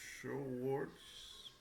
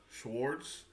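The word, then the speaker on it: Schweitzer: Albert Swartz, Sw- Albert Schwartz, I guess that's how it's pronounced, winner of the Nobel Peace Prize in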